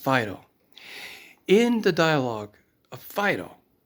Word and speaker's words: Phaedo: If you're going to transliterate it into English, it is pronounced Phaedo.